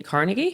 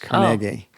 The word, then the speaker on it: Carnegie: Uh Andrew Andrew Canar Cargi. Oh. Uh you mean Carnegie? No, it's pronounced Cari. It is. Yes. It got New Yorkized, but that's how he pronounced it.